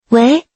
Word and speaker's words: 喂: 喂，第二声是标准的、礼貌的接电话方式，意思是你好，请讲。